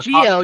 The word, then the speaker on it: Zi-O: Again, wait, they call this one Geo, despite the fact it's spelled Zeo.